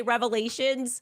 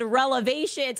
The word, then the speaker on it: revelations: And look, she meant to say revelations, but she said relevations.